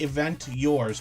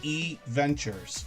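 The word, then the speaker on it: EVentures: Looks like Event Yours, but it's actually E Ventures.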